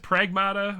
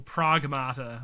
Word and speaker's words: Pragmata: Uh is it pronounced Pragmata or Pragamata? I've heard it pronounced both ways. I'm just going to say Pragmata.